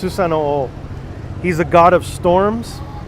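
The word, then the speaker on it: Susanoo: The god's name was Susano. I believe it's pronounced Susano-o.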